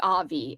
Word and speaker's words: Avi: Avi. You do say it like Avi.